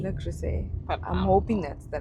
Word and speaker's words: Le Creuset: I was calling it La Crest. Is it what is it? I think people say Le Creuset. Le Creuset.